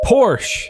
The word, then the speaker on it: Porsche: Porsche.